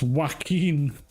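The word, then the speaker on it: Joaquin: might big games up it's pronounced wacken wacken Phoenix I'm call him jacking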